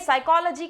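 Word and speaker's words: psychology: वैसे ही साइकोलॉजी dekhiae साइकोलॉजी के word में ही पी से स्टार्टिंग होती है इसकी जबकि साइकोलॉजी में पी जो है वो साइलेंट है दें वही Vi आर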